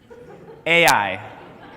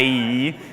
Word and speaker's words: Ai: to the town of ai just say it like it looks a i ai not ie where they suffer ache